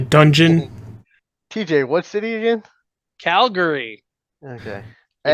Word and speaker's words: Calgary: no, he says Calgirly, and it's hilarious.